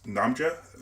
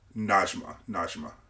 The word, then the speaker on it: Najma: back of the car is Namja, or am I pronouncing her name right? Let me see here. Najma. Yeah. So there it is, Najma.